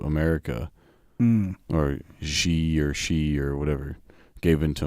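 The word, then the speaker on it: Xi: Or she or she or whatever gave in to America. Zai. Yeah, but it's pronounced she.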